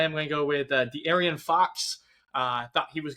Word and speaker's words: De'Aaron: De'Aaron. I told you how to pronounce it. De'Aaron. That's on me. You just had so many different syllables that you didn't need to.